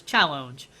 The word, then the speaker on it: Challonge: Like challenge, but with a slight accent. So it's challenge.